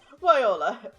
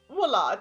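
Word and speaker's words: voilà: Viola. Voila. Here, take a look at this. Viola. Viola. Listen, pronouncing words is hard, especially when you're switching from reading stories in different languages with different names.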